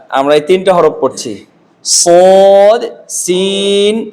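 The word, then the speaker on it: ص: সদ সদ এই হরফটাতে মোটা দাগে কয়েকটা বিষয় আছে উচ্চারণটা মোটা হয় বাতাস চালু থাকে আওয়াজ চালু থাকে শক্ত হয় সদ স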